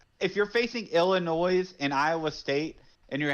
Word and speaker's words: Illinois: oh oh my bad yeah that's right I pronounced the yes huh Illinois my bad uh who's the uh we all